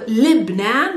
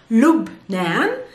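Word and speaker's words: لبنان: name you know lebanon it's lupnen in arabic sometimes it can be also libnan but that's in the dialect so the modern standard arabic way or the real name of the country is lub nan a person that comes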